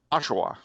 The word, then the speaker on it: Oshawa: the lake a bit east of toronto okay oshawa you never heard of oshawa no but it used to be you're not